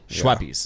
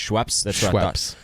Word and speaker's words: Schweppes: category is it is you pronounce schweppes right schweppes schweppies it's just schweppes um i gotta go